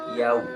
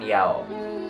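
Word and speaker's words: يَوْمِ: Maliki yaumiddin, pengucapan haraf lin, yau. Ada yang mengucapkan yao, ada yang mengucapkan yai. Nah, itu ke waw, haraf lin namanya.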